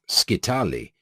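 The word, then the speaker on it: scytale: mechanical means of incipherment was the skitale or skitale pronounced skitali used by the ancient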